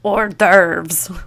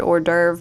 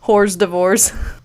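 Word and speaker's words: hors d'oeuvre: Gosh, I laugh a little bit anytime I see the word or derve because as a kid I used to think it was pronounced horse divorce.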